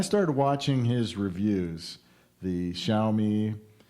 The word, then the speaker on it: Xiaomi: watching his reviews the xiaomi xiaomi it's pronounced xiaomi scooter just all different